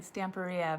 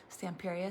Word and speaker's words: Stamperia: uh the stamp area i've been saying it wrong i've been calling it stamporea but it's tamperia stamperia stamperius and period anyway